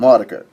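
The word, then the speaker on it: Autechre: I call them Autekra. And when I say Autekra, a lot of people will be like, who you won't recognize the band that I'm talking about because no one pronounces their name that way. Usually they call them Maudiker, but that's an aside.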